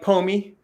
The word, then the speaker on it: Pomi: Rhymes with homie. So yes, exactly. Yeah, homie like homie, like because I am your best friend when it comes to Omniverse.